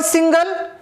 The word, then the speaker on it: single: So in the word single, the first syllable is stressed and the word again, the second syllable is stressed.